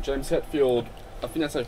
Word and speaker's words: Hetfield: that sentiment inspiration for names uh it's james hadfield's stage name james hetfield i finally pronounced his name yeah yeah metallica lead singer